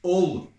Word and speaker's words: Hull: lovely foodies in all it's not hull it's all east yorkshire get it on some